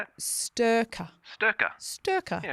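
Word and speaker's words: Styrkr: Sturka.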